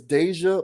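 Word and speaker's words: Dajua: her real name is Deja Blanding I believe I am saying that right she spells it D AJ UA but that seems like deja is how you would pronounce that uh but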